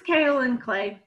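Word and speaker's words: kaolin: and I went brain dead on how to pronounce the ingredient in the spot treatment. Oh, yeah, she was right. It's kale and clay.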